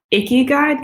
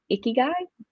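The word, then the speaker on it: ikigai: wow i love that and did you say icky guide could you spell that for me justin if you google it you can find it but it's i-k-i-g-a-i i think icky guy all right that sounds okay i-a-i-g-a-i i think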